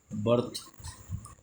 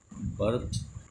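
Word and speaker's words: birth: Lawyer होता है झूठा अब देखो पांच आई से अ का उच्चारण आई से अ का उच्चारण आई से का उच्चारण क्या हो जाएगा? वर्ड आई से अ का उच्चारण हम कैसे करेंगे? बर्ड बी आई आर डी बी आई आर डी बर्ड यानी कि पक्षी और अगला लिखेंगे बर्थ बी आई आर टी एच बर्थ यानी कि जन्म ये हमारे आई से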